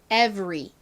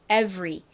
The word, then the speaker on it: every: 설명을 드린 적이 있는데요 알이 다른 모음이랑 붙었을 때 한국식으로는 그냥 리 요렇게 쓰지만 실제 영어식 발음은 리 보다는 소리가납니다 그래서 에브리가 아니라 every every 요렇게 발음이 됩니다 자 한번 유의하셔서